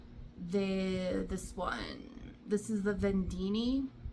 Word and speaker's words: vendeeni: This is the vendeeni. I think that's how you say it, vendeeni. It's gotta be, that's the way I've heard everyone say it, is vendeeni.